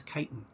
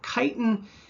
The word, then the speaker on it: chitin: is something known as chitin incidentally if you see ch at the beginning of a word and the word is derived from greek it's pronounced as a hard k just something you might